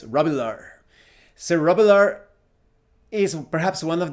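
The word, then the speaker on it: Robilar: dice sir rubular and it's pronounced like that rebelar even though it's written robillard's rabilar cerebellar is perhaps one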